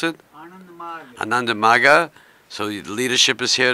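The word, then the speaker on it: Ananda Marga: How do you pronounce it? Ananda Maga.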